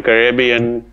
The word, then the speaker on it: Caribbean: okay okay that works that works I've never pronounced it Caribbean Caribbean is how I do it yeah Caribbean caribbian it's funny how uh me me and Caitlyn